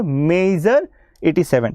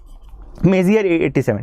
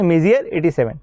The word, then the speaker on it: Messier: Is Galaxy M87 और मेजर 87। ठीक है, मेजियर 87। ठीक है, मेजियर 87। ठीक है, ध्यान रखना, स्पेलिंग देख लो, MESSIER, यहाँ पे स्पेलिंग थोड़ी सी गड़बड़ हो गई है जल्दी जल्दी लिखने में।